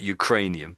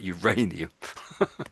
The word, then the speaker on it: uranium: Of course in the sense they may have worked out that they were going to discover Ukrainian Uranium not Ukrainian but Uranium.